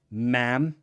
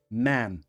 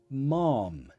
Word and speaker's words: ma'am: listen to the pronunciation ma'am ma'am easy right it rhymes with lamb baby sheep but British English people